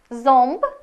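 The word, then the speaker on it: ząb: або оносове всередині слів вона промовляється як он або ом залежно від наступної приголосної зомб зуб сонд суд о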